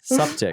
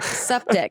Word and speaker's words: Suptic: Suptic. Suptic. That's how you say it, it's just septic, yeah. Suptic, yeah.